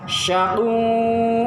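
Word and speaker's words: شَقُوا: Fa'ammal ladzina, maka adapun orang-orang syaqu-nya dipanjangin, sya'nya dibacanya agak tebal, sya' ya, bukannya sa' atau tha tetapi sya'. Syaqu, apa syaqu?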